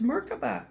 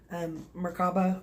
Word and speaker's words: Merkabah: the Metatron's cube or as my friend said it's Merc but it's Merkabah or markaba I've heard it said you know spoken in